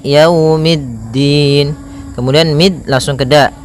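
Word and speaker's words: يَوْمِ الدِّينِ: E tapi dia iikiikiumin pada lafal ya di sini ada bacaan Lin yaitu itu berupa fathah bertemu dengan huruf wau maka yaumiddin kemudian mid langsung ke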